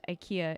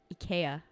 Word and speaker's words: IKEA: IKEA is not pronounced IKEA in Swedish. It is IKEA.